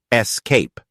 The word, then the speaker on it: escape: Escape is often mispronounced the correct pronunciation emphasizes the second syllable Escape ready to improve your